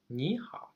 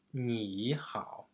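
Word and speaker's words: 你好: say hi to someone I would say Niha okay I wouldn't really pronounce it like me how okay so I it's not because I'm lazy but because it actually makes a lot of sense to um change my first thingy okay from the tail number three to turn tail number two we'll get to the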